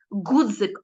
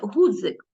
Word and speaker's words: ґудзик: чи пси а не чіпси ґудзик а не Гудзик Ну і інше і